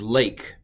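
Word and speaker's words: לך: But of course, just to make things hard, it's pronounced A. Don't ask questions. That's A. So this is lake, and it means go, arise, go.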